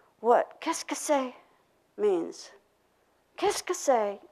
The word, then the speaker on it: qu'est-ce que c'est: Qu'est-ce que c'est? That's three syllables, right?